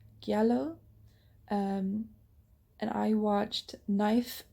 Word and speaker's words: giallo: um next up is giallo i think is how you pronounce it yellow um and i watched